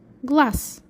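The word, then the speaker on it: глаз: How do you pronounce? You pronounce glass.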